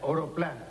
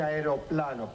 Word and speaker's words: aeroplano: Yo diría oroplano. ¿Por qué Tano, Sí, ya. Arioplano. García, por favor, ¿cómo se dice? Debe decirse aeroplano, profesor.